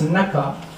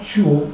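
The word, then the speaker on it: 中: Ce kanji se prononce naka, ce qui veut dire milieu, et en même temps chuo, qui est d'origine chinoise.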